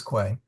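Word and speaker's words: quae: Yep, it's quay.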